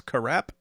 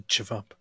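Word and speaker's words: ćevap: AP is eating sevap, but as we all know, these letters have different sounds, and I think the V isn't. I think the V is pronounced R, so it's karap. No, it's actually chivap.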